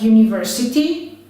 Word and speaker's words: university: there is another option a word could start with a vowel but be pronounced with a consonant like university or uniform we will